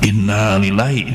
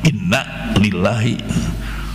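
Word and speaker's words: إِنَّا لِلَّٰهِ: untuk penyebutan Bukhari Muslim Inna bukan innaalillahi ini mah Inna lillahi kalau yang sudah diucapkan Inna lillahi itu mah dipanjangkan Inna Sungguhnya kita kalau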